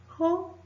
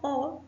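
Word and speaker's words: ὁ: Estoy leyendo ho y no o porque nuestra Omicron tiene un espíritu áspero, mientras que nuestra alfa tiene un espíritu suave. Por eso solo pronunciamos un sonido fuerte antes de la Omicron.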